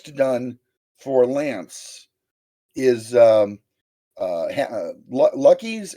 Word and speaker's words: Luqui: Well, and the only other one that's close to done for Lance is Lucky's, and Lucky is spelled Luqui.